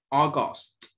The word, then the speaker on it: August: August. This is August. ¿Sí? Se escribe con una A y una U. Una U, pero se lee con, entonces, como si fuera una O.